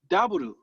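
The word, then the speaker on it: ダブル: It's daburu. Daburu. And just so you know, daburu is actually the Japanese pronunciation for double.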